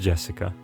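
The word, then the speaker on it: 朱志香: You see, Japanese characters is pronounced Jessica.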